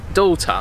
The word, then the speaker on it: daughter: Daughter, vedi, finisce in ER e noi lo pronunciamo con una A, daughter.